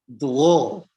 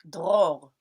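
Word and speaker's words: דרור: Dror. Whoa, okay. It's even easier to say drawer, but dror.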